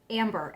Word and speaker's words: Ambre: Okay, so that is Ambre. It's spelled A-M-B-R-E, so that's like ombre or amber.